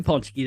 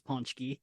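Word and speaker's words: pączki: Una, happy Paczki Day.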